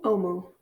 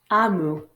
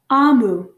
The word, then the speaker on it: Omu: Today we're reading Thank You, Omu, written by Oje Mora. Note to the reader, Omu is actually pronounced Amu.